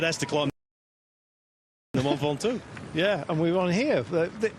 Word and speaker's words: Ventoux: Especially if it has to climb the Mont Ventoux. Yeah, and we're on here. Is that, it's still pronounced Ventoux?